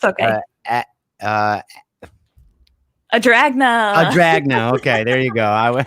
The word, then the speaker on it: Adragna: Now, Tom told me how to pronounce it last night in the sports edition. It's okay. Adragna.